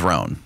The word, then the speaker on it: Rhone: that can be worn individually or mixed and matched with other Roan products.